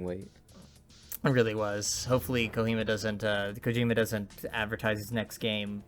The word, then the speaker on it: Kojima: You'll have to forgive us if I say Kohima instead of Kojima. It's kind of a meme between us that we say his name wrong.